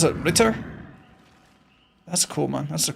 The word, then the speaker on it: Ritter: Ritter. That's cool, man. That's a cool name. Sounds like Rita from accounting, you know?